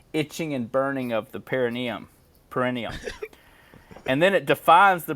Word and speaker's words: perineum: Dude, and it's funny that it's got a medical name, the perineum. Perineum. Yeah. You pronounced it right.